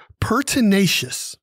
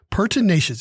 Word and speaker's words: pertinacious: education piece here is pertinacious pertinacious it's an adjective it is four syllables p e r t